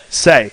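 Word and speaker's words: Seay: Bo, how would you pronounce s e a y? Say. All right, we're going to call that say.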